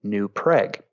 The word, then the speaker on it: New Prague: preg we actually uh it spelled prague because there was a lot of people that originally settled there that were from prague czechoslovakia but for some reason uh over the years we came to pronounce it new preg and so i think